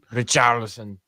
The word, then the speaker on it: Richarlison: But there's no R's to roll other than Richarlison. Richarlison.